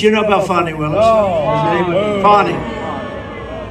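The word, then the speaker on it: Fani: know about fonny Willis fonnie it's pronounced f f a n i that's fenny like said fny when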